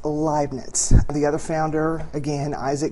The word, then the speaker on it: Leibniz: calculus along with Isaac Newton and it is pronounced liet the other founder again Isaac Newton interesting there's